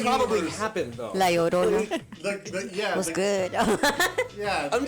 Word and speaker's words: Llorona: What is it? Llorona. Llorona. Thank Not you. Llorena? No. What, am I saying something Not else? Lauren. You're kind of No. mixing Llorona and Morena.